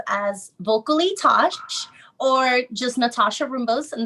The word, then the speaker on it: Nathasha: Well, you can find me on Instagram and YouTube as Vocally Tosh, or just Nathasha Rumbos, and there's a silent H after the T.